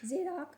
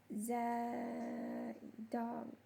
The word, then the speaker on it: Zadok: Ahimaaz, the son of J- J- How to pronounce Zadok? Zadok? Zadok said, "Let me run down and take the